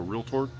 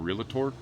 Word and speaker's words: realtor: And your takeaway Your takeaway is Brad used two syllables for realtor instead of realator.